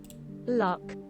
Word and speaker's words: Loch: 然后这话Loch 或者 Loch Mess 查一下吧，这个单词。这期反正都已经这么长时间了，本来也不短。Loch 是应该 Lochs 是吧？Loch 苏格兰湖泊，苏格兰盖尔语，这个词苏格兰盖尔语怎么翻译呢？啊，是应该是 logs Scottish Gaelic，这么难发音吗？查一下，既然是 Scottish 发音了，怎么发？Lock 啊，就 lock，那还是应该念 lock，还是应该念 lock，不是应该念 lock，